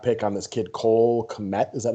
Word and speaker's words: Kmet: They took a second-round draft pick on this kid, Cole Kmet. Is that how you pronounce him?